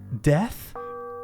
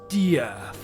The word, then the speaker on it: Death: "Death?" "It's pronounced Dee-ahth," he said, with his gaze fixed on the cold, tattered suits.